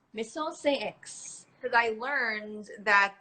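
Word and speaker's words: Maison Saint Aix: So get you some X, and it's pronounced Maison Saint X. Maison Saint X. Because I learned that the X actually makes an S sound.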